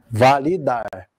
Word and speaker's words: validar: e uma variação proparoxítona começando pela oxítona né que a sílaba tônica é a última validar é validar praticar ir aí eu